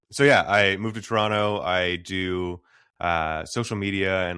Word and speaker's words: Toronto: so I moved to Toronto. And for those of you who aren't from Toronto, it's Toronto, I guess is how other people say it, Toronto.